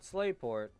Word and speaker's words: Slateport: Not Slateport, Slateport, because that's how you say it.